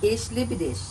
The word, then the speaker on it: Ich liebe dich: Ich liebe dich.